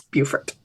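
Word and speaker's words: Beaufort: got schooled when I what I long thought was the pronunciation of bufort I thought it was bfort BAU f t I thought that was BT but no it's it's bufort and so I got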